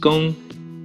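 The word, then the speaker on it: 工: another one right there this character is pronounced gong it means to work okay for the last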